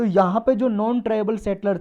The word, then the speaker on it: pidgin: पिजिन का मतलब होता है, देखो इसमें डी साइलेंट है, PIDGIN।